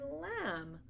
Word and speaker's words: lamb: to remember these tricks so for example crumb Clym comb thumb limb and lamb you don't hear a buck but sound at the end so these are only